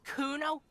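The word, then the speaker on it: Cuno: It's fucking Kuno. Say it right, bitch. Say it like it's said.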